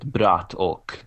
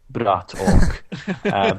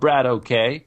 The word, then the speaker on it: Bratok: And whenever I get the chance to say his name, I want to say it the proper way, Bratok. Because American casters, they just get it wrong. He's not Brad OK, he's Bratok, which means something akin